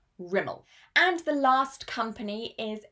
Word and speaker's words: Rimmel: This would be Rimmel, Rimmel, with the stress on the first syllable, Rimmel.